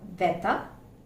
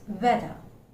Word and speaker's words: whether: So it's not rather, it's rather. It's rather. It's not whether, it's whether.